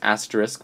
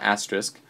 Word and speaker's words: asterisk: uh symbols like the parentheses the asterisk it's pronounced asterisk by the way not asterisk um the brackets curly braces the um comma